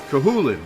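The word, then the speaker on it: Cú Chulainn: Kahulin, right. That's how you pronounce it. Yep. Because Irish is weird.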